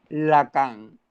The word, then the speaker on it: Lacan: es jacques lacan jacques lacan así como se escribe la cama pero sin acento jacques lacan es un